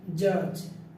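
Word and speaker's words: judge: ডি এবং জি, ডি এবং জে পাশাপাশি হলে ডি এর উচ্চারণ লোপ পাই, যেমন জাজ, জর্জ বানানটা করতে গেলে আমরা ডি লিখতে হবে, বাট ডি এর উচ্চারণটা হবে না।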